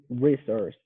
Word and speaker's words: resource: versions i would say resource okay you want to pronounce the e like the letter e resource resource resource is that right yeah